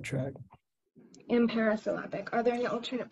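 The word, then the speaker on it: imparisyllabic: Your word is imperisyllabic.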